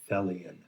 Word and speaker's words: Thelian: Put on the badge that says Thelian. Thelion. And it rhymes with Hellion.